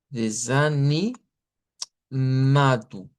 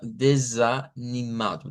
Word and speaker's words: desanimado: Ah, cambiando pues obviamente en desanimado la U y la s, que no es desa, sino desanimado.